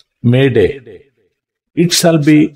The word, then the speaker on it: Mayday: of the word Mayday m y da y Mayday it shall be pronounced as the French expression maer m a